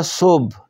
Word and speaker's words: صبح: نہیں ہے صبح دیکھیں فارسی زبان میں لفظ کے آخر پر جو ہے ساکن آتا ہے اس کو ہم تلفظ نہیں کرتے اسی طرح عین آخر